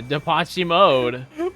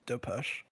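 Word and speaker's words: Depeche Mode: Oh, is that how you pronounce their It's Depes. Yes. Oh. Yeah. Well, that's not very obvious. I mean, I guess you could say Depos, but you probably get Well, that's not what I would say either. I've always called him Depaci. Dep. Yeah. Depaci mode. What? That's how I've always pronounced them. Depim. What? How am I supposed to know how it's pronounced? How do you get an ah out of that bubble?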